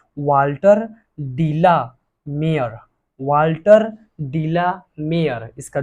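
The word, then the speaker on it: de la Mare: इसको बहुत सारे लोग अलग अलग, बहुत सारे बच्चे अलग अलग वाल्टर ढेला मारे, कोई क्या क्या बहुत सारा बोलता है, बट ऐसा नहीं है। उसका सही प्रोनाउंसिएशन कीजिए, वाल्टर डीला मेयर, वाल्टर डीला मेयर, इसका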